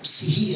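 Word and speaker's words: ψυχή: la palabra psiquis, pero se pronuncia psihi en el griego, esa es la pronunciación correcta. O sea, aprendí un griego, estudié griego y sé que estoy diciendo psihi, porque es una especie de psihi.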